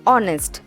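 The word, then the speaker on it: honest: इसका सही प्रोनाउंसिएशन है ऑनेस्ट।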